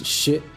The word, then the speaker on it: Shifu: We discussed this last night, too, but I think that he's actually closer to the Chinese pronunciation. It's shiu, whereas everybody else is doing the more American shifu.